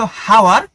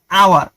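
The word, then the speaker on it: hour: অনেস্টের মতোই এইচ ও ইউআর হওয়া উচিত ছিল হাওয়ার, কিন্তু উচ্চারণ হয়েছে আওয়ার, স্বরে আ, ভাওয়েলের মতো, তাই তো?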